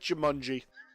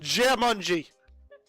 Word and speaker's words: Jamunji: I'm pronouncing it Jumanji. There's no U! That's an A! Jumanji. That's not how you pronounce that! Jamunji.